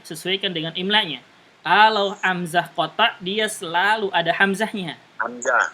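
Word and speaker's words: قطع: Perhatikan sini ada hamzah hamzah wasal atau hamzah qata dia. Hamzah wasal Ustaz. Hamzah qata ya. Hamzah qata ya. Qata bukan qata. Qata qaf ta ain.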